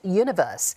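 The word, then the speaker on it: 1VERSE: The band is stylized as one verse but pronounced universe.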